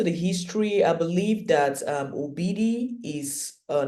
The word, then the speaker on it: Obidi: Anyway, that is how it is pronounced, Obidi.